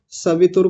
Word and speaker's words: स्वः: अगला है स्वः। ऐसे ही इसको भी जल्दबाजी में बोल के निकल जाते हैं। स्व बोल के चले जाते हैं। ऐसा नहीं स्वाः ओम भूर भुवः स्वाः भुवः स्वाः ठीक है।